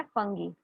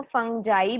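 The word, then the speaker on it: fungi: में हो जाता है फंगी। कुछ बुक्स जो हैं, कुछ टीचर जो हैं वो फंजाई भी पढ़ते हैं, वो गलत नहीं है। फंगी या फंजाई दोनों बोला जा सकता है इसे, ठीक है।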